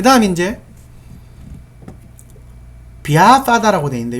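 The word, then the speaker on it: vyāpāda: 그 다음 이제 비아빠다라고 되어 있는데 요거 이제 V 해도 됩니다. 비아빠다 해도 되는데 요렇게 Y가 있을 때는 B로 합니다. 근데 발음은 비아빠다라고 되어 있는데요. 이게 성질 내는 겁니다.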